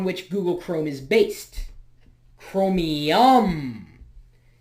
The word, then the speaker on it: Chromium: Google Chrome is based chromium chromy yum that's not how it's spelled but chromium you know like the element anyway it's a very